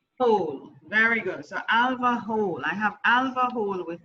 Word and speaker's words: Hohl: pronounce your surname alva it's pronounced hall oh very good so alva hole i have alva hole